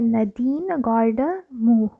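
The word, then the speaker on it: Nadine Gordimer: ये एक short story है, a watcher of the dead, और इसके ऑथर का जो नाम है वो ऐसे प्रोनाउंस करते हैं, नदीन गॉर्डमूर।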